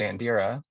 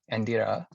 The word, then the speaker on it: Andira: a name um that i usually pronounce it andira but i also like the spanish pronunciation um andira i like i also